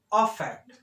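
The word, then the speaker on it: affect: सबसे first difference तो इस वर्ड के प्रोनाउंसिएशन में ही आता, because first one इज इफेक्ट अफेक्ट, इफेक्ट अफेक्ट, getting my point? एक बोला जाता है इफेक्ट और एक बोला जाता है अफेक्ट।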